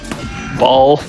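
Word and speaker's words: Baal: But here we have, I'm not gonna pronounce that. Ball.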